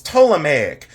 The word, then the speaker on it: Ptolemaic: late period or the toic period now toic is spelled with a p so it you don't pronounce the P but it's toic but spelled p t